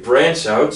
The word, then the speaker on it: branch: 여기 ch로 끝나는 단어는 이렇게 발음하지 마시고요. 이렇게 발음하시면 훨씬 정확한 발음 나옵니다. So branch이라고 하면 안 되고 branch out 그렇게 발음을 하시면 되고 그리고 한국어로도 가지 치다 뭐 이런 표현 있잖아요.